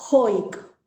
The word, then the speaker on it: joik: La música hoik, como se pronuncia, es la música sami,